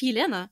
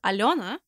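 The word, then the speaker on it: Алёна: figure skater alona castanera she's not elena she's alona but some helena's prefer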